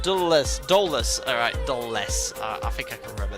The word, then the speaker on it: Dulles: 2 tons, pronounced Dulles. Alright, Dulles.